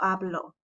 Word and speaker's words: hablo: There's an emphasis on the o, habló versus yo hablo, right? Él habló, yo hablo. You heard that? It's different.